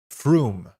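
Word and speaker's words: Frome: It's pronounced fume.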